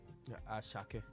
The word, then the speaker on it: Asake: I think between Burna Boy and the guy, they mention his name different from how they write it. The ASAKE. Ashake.